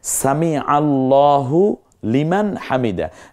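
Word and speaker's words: سمع الله لمن حمده: দেখুন এরো চিহ্ন কি সুন্দর লাল চিহ্ন হয় সামি আল্লাহু লিমান হামিদ আমরা বলি সামি আল্লাহ হুলিমান হামিদা সামি আল্লাহ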